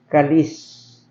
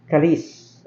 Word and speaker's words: kalis: way it it's being pronoun it's should be pronounced as kalis kalis okay and it became Kali first of all